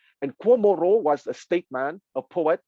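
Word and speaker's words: 郭沫若: Okay, Guo Moruo, I will spell his name, is G-U-O, okay, but the G in Pinyin translation is pronounced like a K. So for an English-speaking person, imagine K-U-O, Guo Moruo, M-O-R-U-O, is his given name.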